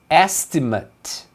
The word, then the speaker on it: estimate: Quando é estimativa, se pronuncia estimate. Então o at aqui vai ter um som de estimate.